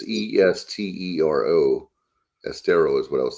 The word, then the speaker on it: Estero: It's Estero. Estero is what I was thinking, but I'm not 100%. Yeah, that sounds right. Estero.